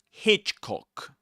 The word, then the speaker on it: Hitchcock: Hitchcock, you stress Hitch Hitchcock film.